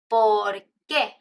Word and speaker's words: por qué: Even in the pronunciation, you have por qué, por qué. And the answer is porque, porque. So the stress, por qué versus porque.